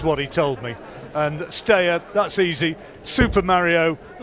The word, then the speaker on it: Steyer: And Steyer, that's easy.